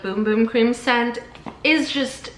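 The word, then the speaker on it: Bum Bum: the like cardboard box it says pronounced boom boom like b o o m b o o m it's because it's uh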